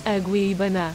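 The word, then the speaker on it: Agueybaná: Aguibana. There you go. I didn't want to butcher the pronunciation, so I just inserted it right there.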